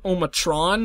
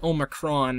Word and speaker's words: Omicron: you spell it because I always thought was like omotron or something like that but it's definitely Omicron because I took the time to look it up but here we are on Omicron Percy i8 hopefully we